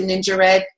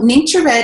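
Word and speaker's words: NingXia Red: and this is actually some people pronounce it ninja red i pronounced in nature ni ng x I a so nature red is a very high antioxidant and nutrient-rich drink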